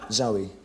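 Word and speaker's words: Zowie: Zoe, Your son's name is Zoe Bowie.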